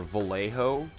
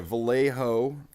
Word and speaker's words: Vallejo: But yeah, Vallejo, which is like V-A... It's like spelled like jalapeno, it's like V-A-L-L-E-J-O, I think.